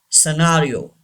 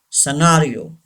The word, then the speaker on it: scenario: Scenario. Say this word. Scenario. Yes, don't say scenario. It's wrong. Scenario.